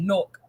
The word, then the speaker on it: Newark: But if you're from Newark, it's pronounced N-O-R-K, Newark.